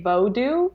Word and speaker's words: Vodou: way that you prefer I prefer instead of saying Voodoo to say vodo because that's a little bit more traditional and also it differentiates